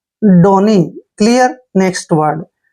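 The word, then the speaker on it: donee: clear next word देखिए डी ओ N double E देखि डी का उच्चारण ड कर रहे हैं ओ को ओ की मात्रा पढ़ते हैं और एन को हमने न पढ़ना है डबल ई को बड़ी की मात्रा पढ़ते हैं डोनी डोनी मींस होता है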